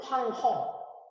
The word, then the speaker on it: 황허: 이거를 중국 발음으로, 이게 이제 우리 발음으로 황하, 중국 발음으로는 황허.